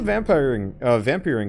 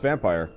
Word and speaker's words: Vampyr: How's the vampiring going? It is actually pronounced vampire.